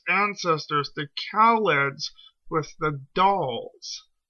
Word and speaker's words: Dals: It's not mentioned here, but the Thals have actually confused the Daleks' ancestors, the Khalids, with the Dals. D-A-L, not T-H, like the Thals.